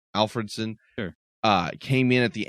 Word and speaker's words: Alfredson: I would say Alfredson. Alfredson.